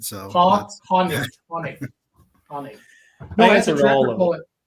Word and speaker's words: Hoenig: That'll be the first part of the podcast because it's H-O-E, like a hoe. So you don't know if it's a Hoenig, a Hoenig, or what, but it's Hoenig.